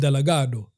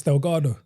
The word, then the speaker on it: Delgado: yeah i butchered that i said delegato and i realized after the episode i was saying it wrong it's delgado see i thought you were